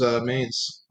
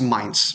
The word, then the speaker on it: Mainz: a 1-1 draw versus a maze i think it's pronounced mainz probably should have told you i've been outside in the first place a little german pronunciation but yeah mainz um